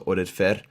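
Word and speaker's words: Oded Fehr: Well, it's kind of an Arabic Middle Eastern name, so Oded Fer. It's how you say it.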